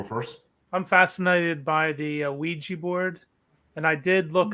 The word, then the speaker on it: Ouija: let Micha go first I'm fascinated by the Ouija board and I did look up on Google that is the correct pronunciation it's wi G so uh pardon my flashing in and out